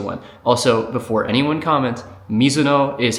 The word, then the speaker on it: Mizuno: Um, Mizuno is like the Americanized version of it, which is fine.